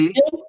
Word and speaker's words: Produktion: der von Producción, von recuerda que la T Produktion, es como una Z ahí, TS, producción, ja, von Biokraftstoff, Biokraftstoff, Biokraftstoff ja, gesteigert werden.